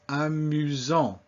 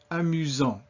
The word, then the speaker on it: amusant: But between two vowels, it is pronounced like a Z. So this word is amusant. Repeat, amusant.